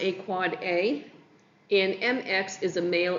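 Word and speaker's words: AAAA: four capital A's is an end device IPv6 address pronounced a quad A and MX is a mail exchange record.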